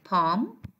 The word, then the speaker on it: palm: We have palm. And I will continue later on. So as you see that we have L here, that it is followed by an M. So the L will be silent.